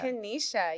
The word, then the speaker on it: Kennisha: Kanesha.